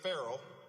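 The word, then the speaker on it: Farrell: of Transportation now Deputy Mayor frell which rhymes with mayor Herold by the way is hitting the ground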